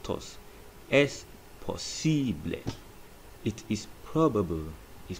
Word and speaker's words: probable: Then probable is pronounced as probable. Probable. A there is pronounced as A. So probable is probable.